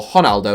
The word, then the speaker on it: Ronaldo: Ronaldo, or Ronaldo as the Brazilians pronounce it, is the greatest